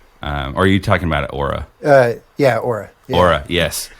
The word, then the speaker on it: Oura: Is it pronounced Oura? Oh, yes, Oura. There it is. That is. I was trying to overcomplicate it. I was like, Aurora.